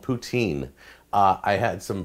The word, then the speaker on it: poutine: Some of the French call it poutine. There's an S sound in the middle of it. However you want to pronounce it, I'm going to say poutine because that's how it's spelled in my dictionary.